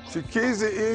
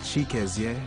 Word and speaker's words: Chikezie: Chiquizzi, easy, Close enough, though. Close enough. Myself and my name are Nigerian. The original pronunciation is Chikezie.